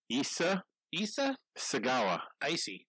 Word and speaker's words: Issei Sagawa: Issei Sagawa.